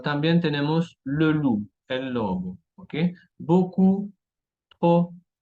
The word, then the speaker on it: loup: Y lettre P muette, tenemos beaucoup, mucho, trop, demasiado, o también tenemos le loup, el lobo, ok.